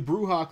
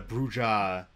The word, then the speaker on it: Brujah: so you know if if the brouha clan were supposed to be like an american thing that would actually make sense uh or if the brujah pronunciation was like an affectation of the american bruja in particular and european brujah made fun of them for it like that would actually be